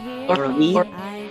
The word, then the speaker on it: Loralee: to talk about and uh her name is Laura Lee. Is that am I pronouncing your name right or is it Laura? Laura Lee.